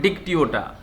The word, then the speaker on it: Dictyota: इसका नेम है डिक्टियोटा, डिक्टियोटा।